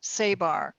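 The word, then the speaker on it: sabr: The word sabar starts with S like in star, A-B like in boy, A-R, sabar, if that's even the correct pronunciation, but that's the way it's spelled.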